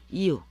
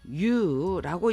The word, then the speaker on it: 言う: 말씀 한자와 관련된 단어 이유 이것을 이유라고 읽기도 합니다만 또 you라고 읽기도 해요 비슷한 경우가 입구가 있습니다